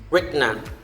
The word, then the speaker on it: retina: Okay, next is retina. Retina, not retina. It's retina. It's part of the eye. Okay, it's a part of the eye.